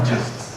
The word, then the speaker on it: gist: Then I have a problem of simply keeping track of all my, how do you pronounce it, gists with a soft G? All my gists, yes.